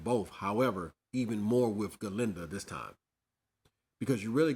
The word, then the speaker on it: Galinda: Galinda. But uh Ginda, it's not Ginda. It's G. You can't you Hey, it's like wheezy, baby. You got to say the G, baby.